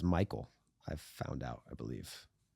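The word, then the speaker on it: Maikel: It's actually pronounced Michael.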